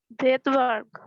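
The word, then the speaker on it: Svedberg: ভেদবার্গ। হ্যাঁ, ওনা সুইডেন তো বাড়ি, এই জন্য নাম এরকম। এস এর উচ্চারণ হবে না, কিন্তু লিখতে হবে।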